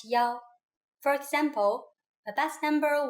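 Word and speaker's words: 幺: numbers and so on we pronounce one as Yao for example a bus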